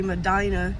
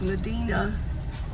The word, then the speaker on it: Medina: And that's the town of Medina, Medina, Texas, not, as some people say, Medina, New York. It is Medina, pronounced that way here in Texas.